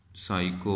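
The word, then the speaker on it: psycho: आ जाते हैं, तो उनका पहला वर्ड ही साइलेंट होना शुरू हो जाता है। जैसे कि नो, नो होता है, जैसा कि PS, साइको होता है एक लफ्ज़, अब ये साइको है।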